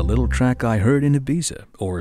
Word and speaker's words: Ibiza: track I heard in Ibiza or as the locals pronounce it Ibiza I've never been there